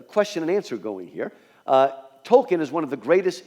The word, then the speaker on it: Tolkien: right away that technically his name should be pronounced Tolkien. But that is just too hard for a poor American tongue to say. So I will say Tolkien, as most people do, but technically it should be Tolkien, but I'll say Tolkien.